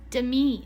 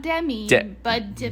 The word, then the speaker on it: Demi: patrick and demi moore to me not demi demi sorry apparently don't add me everybody who's demi moore i think you said it right but i'm just clarifying apparently she goes by to me and not demi because she's fancy like that